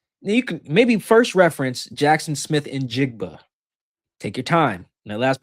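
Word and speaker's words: Jaxon Smith-Njigba: You can maybe first reference Jackson Smith and Jigba. Take your time. That last part my white people out there. Take your time. Jackson Smith and Jigba. That's it.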